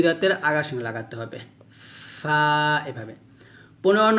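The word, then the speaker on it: ف: দাঁতের আগার সঙ্গে লাগিয়ে ফা উচ্চারণ করতে হবে নরম করে যেমন ফা ফাটা যখন উচ্চারণ করবেন অবশ্যই একটা বাতাস বের করবেন ফা এভাবে অর্থাৎ নিচের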